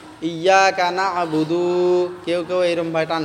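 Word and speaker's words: نعبد: কাইও টান করিও না হ্যাঁ কেউ টান করিও না বুদু ইয়্যাকা না'বুদু কেউ কেউ এরম ভাই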